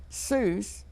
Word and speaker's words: Seuss: to writing children's books he'd like to have his name Seuss pronounced to rhyme with mother Goose do you know dr.